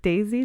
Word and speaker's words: Daysy: is as an ambassador for for is it Daisy does it is that how you say it